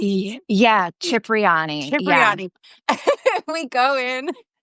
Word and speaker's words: Cipriani: How do you pronounce it? Yeah, Cipriani.